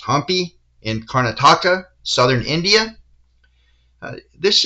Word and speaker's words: Hampi: I'd like to show you here an image of Virupaksha Temple in, I think it's pronounced Hampi, in Karnataka, southern India.